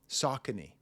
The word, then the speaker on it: Saucony: Saucony? Saucony, that's how you pronounce it.